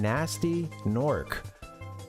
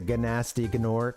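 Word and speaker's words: Gnasty Gnorc: the the the game they like mispronounce his name or uh it's you know GN s Ty y GN o RC but someone goes you know takes the bait and goes with a gasty gor uh anyway uh this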